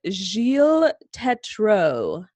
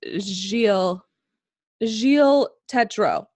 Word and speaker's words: Gilles Tetreault: I believe it's Gilles Tetreault.